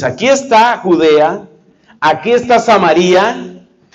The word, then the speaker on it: Samaría: en la mitad estaba samaría que otros pronuncian samaria vamos a decir aquí samaría y al norte estaba